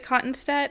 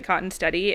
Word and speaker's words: Kottenstette: the family pronounces it cotton steady and we're just part of the half of the family that pronounces it cotton steady but I like cotton steady because it rhymes with like Mom's spaghetti yeah and stuff like